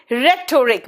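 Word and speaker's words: rhetoric: Next आओ, रेटोरिक, बेटा रेटोरिक में एच साइलेंट है, रेटोरिक में एच साइलेंट है।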